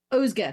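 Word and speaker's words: Özge: you're just really following, how do you pronounce her name, the character's name again? Ozga, because Yeah. she's Turkish.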